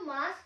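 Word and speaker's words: ます: इसको हम हिरागाना में आप देखोगे तो ये मासू लग रहा है, बट यहाँ पे यू साइलेंट हो जाता है, तो ये मासू नहीं है, मास है।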